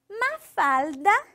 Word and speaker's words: Mafalda: Ó, eu quero um L assim bem forçado aqui, ó. Mafalda, Mafalda, certo?